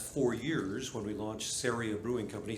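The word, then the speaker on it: Ceria: years when we launched serie a brewing company syria rhymes with area and so before i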